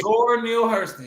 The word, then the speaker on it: Zora Neale Hurston: Zora Neale Hurston, yep.